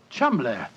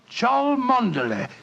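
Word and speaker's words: Cholmondeley: Being an American, he had no reason to know that the name Chumley is in no way pronounced the way it is spelt. Oh, Joe, I never thought of that. Chumley.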